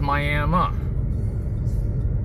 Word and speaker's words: Miami: this is Miami Oklahoma I know it's spelled the same way as that city in Florida but that city is called Miami and this is Miami if you say it wrong you will be corrected that's Whelan's took goo